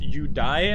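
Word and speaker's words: Yurei: how yuri is pronounced it's actually pronounced you die i think because the japanese pronounce the r part of yuri as you die which i understand that if you're completely correct you want to pronounce it that way but because we are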